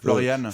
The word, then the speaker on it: Florian: Florian devient Florian. Florian, oui, c'est prononcé à l'allemande.